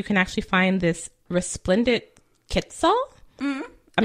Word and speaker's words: quetzal: only places you can actually find this resplendent quetzal. Mm-hmm. I'm not quite sure how to pronounce that.